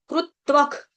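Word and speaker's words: कृत्वः: इसका जो श्लोक है, ये सॉरी विसर्ग है, विसर्ग का उच्चारण जो है त्व के बाद जो विसर्ग है उसका उच्चारण करेंगे आधा ख हलंत ख, क्यों, क्योंकि आगे क है।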